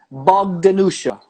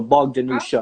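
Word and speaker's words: Bogdanjuša: That J, I think that J, well, J in Croatian is like yeah, but I think that's like a native local way they spell it on Huar because usually it doesn't have the J in there.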